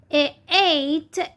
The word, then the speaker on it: eight: we pronounce it A, eight, EIG, it's the G here is silent because it has the sound A, long vowel A, eight, great, great, and